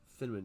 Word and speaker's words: Finnman: That's that's basically Mike Tyson saying cinnamon. If anybody wants to know how to pronounce his last name correctly, just act like you're Mike Tyson and be like that's that's Dylan Cinnamon. You just act like you're saying Cinnamon.